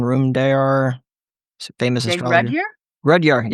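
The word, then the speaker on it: Rudhyar: Rudyard, yeah, that's how you say his name.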